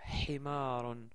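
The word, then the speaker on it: حمار: Concentrez-vous bien parce que cette lettre est plus ou moins difficile à prononcer pour les francophones. Donc, commençons par notre mot d'aujourd'hui. C'est le mot Himarun.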